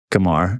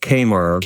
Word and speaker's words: Qamar: my good friend Samir Kamar. Did I say your name right? I actually didn't ask you how to say your name right, but No, that's pronounced Kaymar. Kamar is fine.